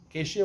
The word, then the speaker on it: acacia: Maybe the shulchan was made of asasia wood, shitim. You know, acacia wood, as you pronounce it. I thought it was asasia wood.